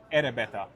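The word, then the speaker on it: エレベーター: We But just pronounce it in the Japanese way. Erebeta.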